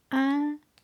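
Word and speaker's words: An Daingean: For example, Dingle, a favorite tourist town in southwest Ireland, will be written as Dingle and also as Andangin, pronounced Andangin.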